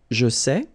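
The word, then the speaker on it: sais: same way here here you write it s t okay but then phonetically these three forms are the same and it's say okay say say say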